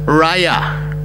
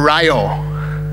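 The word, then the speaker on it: רעיה: The first Hebrew word is a word that is pronounced like this, raya or rayo, okay?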